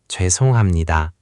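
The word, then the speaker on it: 죄송합니다: Think of it like the jway sound. Your lips round slightly. Jway. Try just that first syllable. Jwe. Jwe. Jwesonghamnida.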